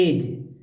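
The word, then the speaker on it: edge: नहीं हो पा, देखिए तो लास्ट में देखिए ए डी जी ई है, ए ई डी जी ई, इसको बोलते एज।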